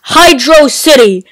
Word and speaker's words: Hydrocity: It's freaking Hydrocity! It's not Hydrocity! It's Hydrocity! Hell, most of the voters agreed that this is the way to pronounce Hydrocity.